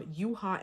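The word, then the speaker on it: Yuehua: He's from Yuha Entertainment, right? I think that's how you say it, Yuha.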